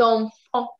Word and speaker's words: enfants: So whenever you have a T or a D in the end of the word, you never ever pronounce them.